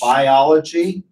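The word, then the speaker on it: Buyology: by Martin Lindstrom called Biology, which is spelled B-U-Y-O-L-O-G-Y, not B-I-O.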